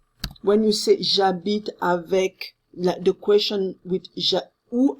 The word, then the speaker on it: j'habite: allons nous c nous allons d'accord anomone lilloise j'habite moi nous c'est j'habite avec de quoi changer ou habitent eux tu